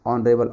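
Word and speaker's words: honourable: देखिएगा ये जो वर्ड है ना, इसका प्रोनाउंसिएशन क्या है, ऑनरेबल है, तो ऑ से स्टार्ट है, ऑ। तो गाइस जो ऑ हो गया ना, ऑनरेबल ऑ हो गया, तो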